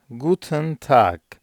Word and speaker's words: Guten Tag: bir kullanım olan Guten Guten Tag İyi günler anlamında bunu gönül rahatlığıyla her yerde kullanabilirsiniz g Evet e ve n harfleri okunurken biraz daha ıya yakın bir ses çıkarıyoruz Guten tak yine Good